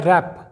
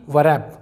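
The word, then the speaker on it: wrap: example देखते हैं दोस्तों यह है रैप ना कि व रैप रैप का मतलब होता है लपेटना तो इसे हम पढ़ेंगे रैप ना कि वैप अगला एग्जांपल देखिए दोस्तों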